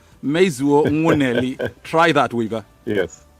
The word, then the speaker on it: Mezuo: a feeling that weeper doesn't get the accurate pronunciation of your name please complain please come play and let's have it sure it's mizuo meizu try that weaver yes it's fine but if